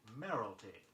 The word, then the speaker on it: mayoralty: It is spelled M-A-U-V-E. Say, the model wore a mauve dress. Say, mayoralty, M-A-Y-O-R-A-L-T-Y.